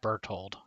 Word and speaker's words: Berthold: I think it's just pronounced Berthold. No, I'm saying because it's a pigeon, it should be bird-thold.